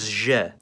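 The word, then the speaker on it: Ж: and its name is zhe. It appears in every language that uses the Cyrillic alphabet, and the sound it makes is similar to its name. That sound is zh.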